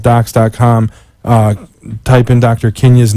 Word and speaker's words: Kindya: Kenya's name so the D is silent ki and dy a